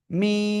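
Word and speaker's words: ميم: দেখেন এই যে দুই ঠোঁট, দুই ঠোঁটের শুকনো জায়গা থেকে অক্ষরটা 4 আলিফ টানে উচ্চারণ করতে হবে। কয় আলিফ? 4 আলিফ। খেয়াল করেন, মিম, ঠিক আছে, মিম।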